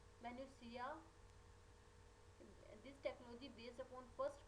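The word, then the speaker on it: minutiae: म्यूटिया इज a plural of म्यूटिया and pronounce as, हम इसको pronounce करते हैं मैन्यूसिया।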